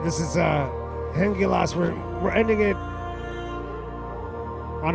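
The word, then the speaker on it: Hengilás: This is uh Hengilas. And yes, that is how it's pronounced.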